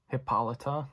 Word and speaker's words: Hippolyta: Lu Connie Nielsen plays Hippolyta which is kind of an easier one for some reason to me it's like taking the the word hippo and adding Lydia at the end I don't know don't